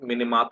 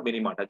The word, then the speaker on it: Minamata: You can pronunciate it Minamata or Minamata. Japanese call it Minamata, in English we call it Minamata, right? Both are the same.